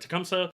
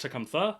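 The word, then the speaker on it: Tecumseh: pick Tecumsa, for example, Tecumsa, I think it's like pronounced Tcumtha actually, but based on what he says in game, I'm going to continue pronouncing it Tecumsa because I'm not 100% certain.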